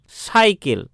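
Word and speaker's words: cycle: তো প্রথমে দেখো সি এর পরে ওয়াই আছে, সি এর উচ্চারণ দন্তস্ব হলো, কিন্তু পরের যে সি আছে তারপরে কিন্তু এল আছে, তাই এখানে সি এর উচ্চারণ ক হলো।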